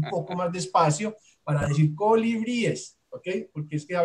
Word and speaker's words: colibríes: Y es, hablábamos de cómo se dice colibrís, que finalmente dijimos que no es colibrí, sino colibríes, y es básicamente como lo mencionamos la vez pasada. Colibríes es correcto y colibrís o colibríes no es lo más aceptado.